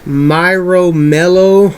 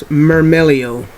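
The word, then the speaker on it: Myrmeleo: I've heard people call this um trap tricks Myro Melo or marro Melo it's not my anything if you know the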